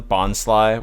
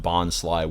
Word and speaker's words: Bonsly: And it doesn't have pronunciations for any of them except Bonsly, which it notes, quote, rhymes with pie.